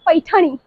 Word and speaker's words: पैठणी: तो ये है pure पैठणी, we call it Narayani पैठणी, Narayani पैठणी, हां Narayani पैठणी, it's pronunciation like being a Marathi we call it पैठणी, पैठणी, पैठणी, मुझे भी आती है।